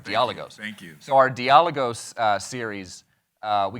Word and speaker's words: Dialogos: dialogos series um uh I was mispronouncing it dialogos for a long time until until a Greek speaker walked up to me and said hey there's an accent it's dialos all right dios thank you